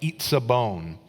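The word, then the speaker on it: עִצָּבוֹן: to be defined by this special word in Hebrew that's pronounced like itzabon.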